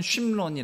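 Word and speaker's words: שמרון: 함께 한 나라 중에 시 므 론 이란 나라가 있는데 히브리어로는 쉼 논이 라고 발음 하구요 이곳이 나중에 사마리아 성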